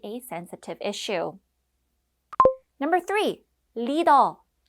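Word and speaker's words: 리더: sensitive issue number three Lido this is the Korean pronunciation of leader in K-pop a leader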